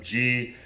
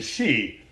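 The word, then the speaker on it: Xi: remember I pointed out how the pronunciation changed from G to she okay and the captions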